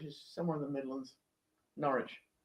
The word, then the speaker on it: Norwich: Norwich. Norwich. I guess that's how you pronounce. Porridge. Not quite.